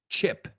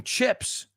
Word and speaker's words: chip: The vowel sound. Eh. Eh. No es E. It's eh. Eh. Chip. Okay, so I want some chips with my sandwich. He chipped his tooth. Not cheap. Chip.